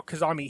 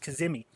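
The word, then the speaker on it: Kadhimi: And then they brought in Al Kazami here. Okay, I believe it's pronounced Kazimi.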